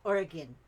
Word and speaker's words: Oregon: she's very happy origon I've always said Oregon I don't know why instead of oron and I thought Oran Oran and somebody told me it's Oregan well I why didn't they spell that that why is there o at the end hits me all confused like why